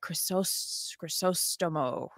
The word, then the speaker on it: Crisostomo: Crisostomo.